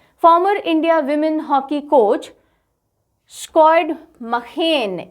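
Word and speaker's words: Sjoerd Marijne: Farmer India women hockey coach squad मखेन, इसको इस तरह से प्रोनाउंस किया जाता है, स्कॉड मखेन। ये मरीने या मजीने ऐसे प्रोनाउंस नहीं होता, ये squad मखेन pens down will power.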